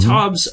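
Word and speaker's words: Taubes: if you read uh I believe his laston pronounced TOS I don't think I've ever heard anyone else pronounce it Gary TOS right is that him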